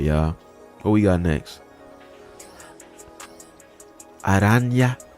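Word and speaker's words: Araña: Aranya. That's how you say it. I see that little thing over the letter N.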